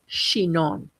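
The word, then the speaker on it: Chinon: There's Shannon, CH H N I N, which is a white grape varietal and dominant in the central L for its amazing high acid, incredibly refreshing white wines. And then there's Shenon, C H I N O N, and these are Capernet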